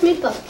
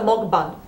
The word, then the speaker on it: mukbang: another story we are we're actually pronouncing M wrong mban that's why you been corrected says like from like hammock mock so mban so thank you thank